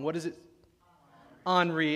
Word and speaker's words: Henri: I called it Henry until I realized I was pronouncing it wrong. What is it? Henri, it's the French pronunciation of Henry, right? Henri, and so I'm watching